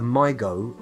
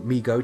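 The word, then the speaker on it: Mi-Go: If we have to somehow steal Toady's brain and keep it in some kind of jar, like the Migo, or Migo, depending on how you wish to pronounce it, you know, if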